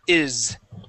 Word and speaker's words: is: vibrate all right but it will touch the sides of your teeth z z z z okay so we're gonna we're going to pronounce the word is is okay uh starting off